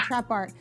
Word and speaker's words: TRAPXART: that the other day x is silent in the trap art but right yeah right